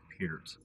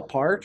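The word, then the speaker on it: Peart: compared or not and I love that you pronounce his last name correctly peers that's very nice a lot of people call part or we can actually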